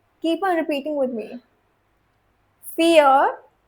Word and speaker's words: vier: Fear, just like the English word fear, F-E-A-R.